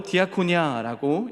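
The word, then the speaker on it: διακονία: 봉사는 헬라어로 디아코니아라고 읽습니다.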